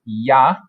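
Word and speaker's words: ja: no so yes is yah and please note that pronounced with a y sound is spelled with a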